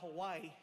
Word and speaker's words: Hawaii: people around the world find out things about Hawaii you never knew. First things first, the proper pronunciation is Hawaii.